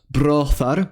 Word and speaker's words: brôþar: It's found in words like brothar, meaning brother, oran, meaning to fear, sokyan, meaning to seek, and froths, meaning wise.